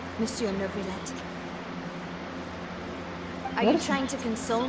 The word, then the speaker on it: Neuvillette: Thank you so much, Monsieur Neuvillette. We'll take See? our leave now. That's how you pronounce it. See, Navia knows, Paimon doesn't. Navia knows how to pronounce it.